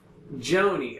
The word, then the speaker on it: Joni: of your name uh j-o-n-i Joanie okay because on this thing